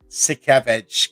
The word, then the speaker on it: Sienkiewicz: And how's a Bill Sienkiewicz kind of type of vibe to it?